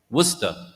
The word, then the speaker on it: Worcester: Do you say the R or not? Worcester.